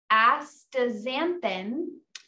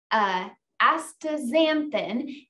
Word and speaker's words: astaxanthin: It has astaxanthin. I think I pronounced that correctly.